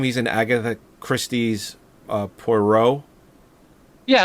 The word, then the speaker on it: Poirot: It's pronounced Poirot.